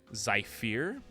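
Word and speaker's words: Zyphear: to zypher okay so that's spelled zy p h e AR zai fear they fear is life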